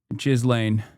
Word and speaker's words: Ghislaine: parents this whole time because the way you're pronouncing it is, you're telling me is wrong? Yes. Jizz lane. And now I'll is walk wrong. you through what It's happened. Ghislaine.